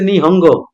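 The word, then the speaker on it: 日本語: বাসা নিহং নিহন গো এটার উচ্চারণ হছে নিহঙ্গ অবশ্য জি এর উচ্চারণ ওরা হালকা করে নিহং এরকম উচ্চারণ হালকা করে যখন অডিও শুনবেন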